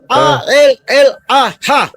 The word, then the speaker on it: Allah: Ketika bangsa mengatakan bahwa Allah A-L-L-A-H itu Terus?